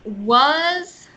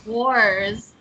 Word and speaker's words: was: Sometimes it sounds like you're throwing an R in there. The A is like an sound. Was. Ah, Worse. No. And see, it sounds like you're saying wars. It's just us.